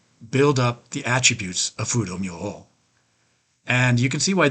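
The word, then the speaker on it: Fudō Myōō: One famous one is Fudo-myo. That's a Japanese pronunciation. That's what I'm most familiar with.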